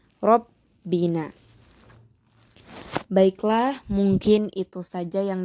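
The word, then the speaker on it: رَبَّنَا: Lalu yang terakhir terdapat lafaz Rabbina, yaitu merupakan qalqalah kubra, yaitu merupakan terdapat huruf qalqalah yaitu ba, sehingga bacanya pun harus ditekankan, lebih ditekankan lagi, Rabbina.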